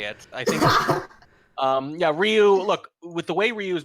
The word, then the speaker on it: Ryooo: Yeah, so just for a heads up, also playing in the single limb challenger bracket, Ryooo is the correct pronunciation, has gone 9-2 in